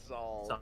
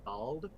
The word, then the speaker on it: Zald: I want to make sure I pronounce it correctly. Zald. Zald. Zald. Zald.